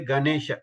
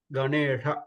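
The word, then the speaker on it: गणेश: So when we say many people know, if you notice, they say Ganesha, they use the tavargana, that is wrong. So we have to use the no tavargana na, Ganesha Gane on that na.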